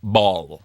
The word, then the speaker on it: Bol: It's like Femke Bol. Her Okay. surname is Bol. Like, I'm making spag bol for dinner. Love spag and bol. she's 24. Not She's all- not got everyone's. Oh, my spag bol is world famous.